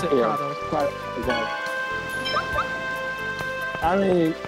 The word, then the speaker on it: Kratos: It's spelled Kratos like Kratos from God of War, but they pronounce it Kratos.